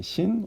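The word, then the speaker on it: שׂ: 삼지창처럼 이렇게 쓰시고, 점을 왼쪽에다가 찍으면 신, 점을 오른쪽에다가 찍으면 쉰입니다. 왼쪽에 찍으면 신, 오른쪽에 찍으면 쉰이 됩니다.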